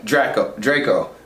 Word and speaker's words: Draco: Yeah, Draco. I'm gonna call him Drake earlier, but Draco's father, and he's pretty much another antagonist introduced in this movie.